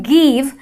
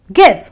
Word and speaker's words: give: A short sound with the I. A lot of non-native English speakers, end up saying give, and that is wrong. So it's give. It's a short, brief sound.